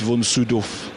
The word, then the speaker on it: von: once met him and I said how do you pronounce your name and he said well how how how do you pronounce it and I said well Von he said well officially it's vonu okay well I've been